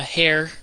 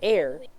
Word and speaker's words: heir: I am technically the hair to this place did you say hair yeah that's the right technically you'd say air but pronunciation don't matter